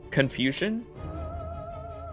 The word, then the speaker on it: Confucian: slapped with the con how do you you pronounce it dude confusion confusion just like confusion that's why we're being